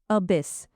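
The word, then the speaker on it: abyss: इसका प्रोनाउंसिएशन है अ बिस मीनिंग अ वास्ट बटस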